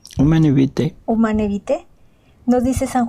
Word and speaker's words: Humanae Vitae: se pronuncia? Humane Vitae.